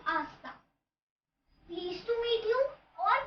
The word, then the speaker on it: hasta: another means ice cream so these have etch in the beginning but they are silent so it will sound like asta pleased to meet you